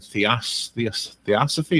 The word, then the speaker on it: Theosophy: I'm looking on Amazon, and it's #1 in Theosophy.